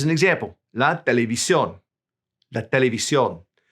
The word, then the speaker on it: televisión: La televisión. We write the accent, we stress it when we say it.